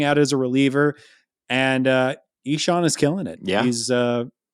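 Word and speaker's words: Ixan: Kyle Reese reached out to us and told us how stupid we are, and his name is pronounced E-Sean. Yeah. E-Sean.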